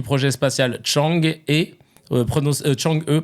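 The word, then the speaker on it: Chang'e: fait partie du projet spatial Chang et pronon Chang E prononcé Chang E nom d'une divinité vivant sur la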